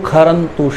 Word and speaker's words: क्षरन्तु: प्रथम खंड का दूसरा अंश मधु खरंतु शेंदव, श का उच्चारण ख करके किया गया है।